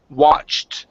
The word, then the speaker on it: watched: ending instead of watching it's watched with the end watch ok ok almost so pronounce the T it's watch watched watched